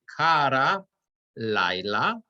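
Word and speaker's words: קָרָא לָיְלָה: But the point is that the accent changes here, and instead of kara, we're going to say kara laila, vayi erev, vayi voker, yom echad.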